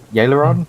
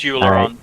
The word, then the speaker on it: Euleron: sort of steps up and goes, excuse me, I missed your name, but we may be in Euleron? Or, Yaleron? I always get that name wrong. It's Euleron.